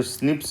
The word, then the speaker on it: SNPs: तो ये जो स्निप्स है इसको प्रोनाउंस करते हैं, प्रोनाउंसिएशन इसका ऐसा होता है।